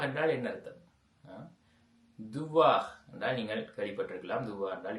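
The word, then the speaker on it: dois: ரு துவா ஓகே ரு துவா இதை வந்து நாங்கள் ரு துவா என்று தான் வாசிக்கிறோம்.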